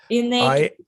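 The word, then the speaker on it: Inn8ly: How do you pronounce the name of your company, James? Innately.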